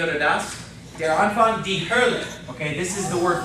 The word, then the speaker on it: Hölle: The O umlaut. Kind of like the ER in her, but without the R, okay? So this is pronounced die Hölle. Let's try to say it together. Die Hölle.